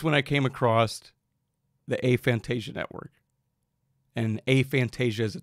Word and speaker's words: aphantasia: So for the record, aphantasia, or I've also heard aphantasia. That's another way to say it. It's probably somewhere between aphantasia and aphantasia. It's more like a tomato in terms of the pronunciation on that.